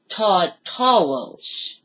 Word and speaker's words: Tartarus: I know that it's pronounced Tartaros, but I just say it as Tartarus.